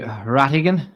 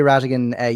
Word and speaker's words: Rhatiggan: It's the silent H that gets people, you know, the RHAT throws people off.